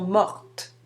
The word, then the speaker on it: mortes: on prononce le R, mais on ne prononce pas le T ni le S, alors qu'au féminin, on ajoute le E et on doit maintenant prononcer le T. Elles sont mortes.